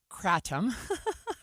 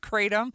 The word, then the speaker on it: kratom: So kratom, kratom, I've heard it pronounced both ways as I'm looking at news stories.